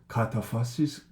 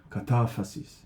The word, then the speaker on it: kataphasis: What was I saying? Kataphasis. That's a very English way of stressing the word, but it's kataphasis and apophasis, right?